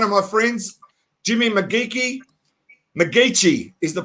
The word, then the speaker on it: McGeachy: McGEACHY is the pronunciation, and Jimmy has done a lot of things.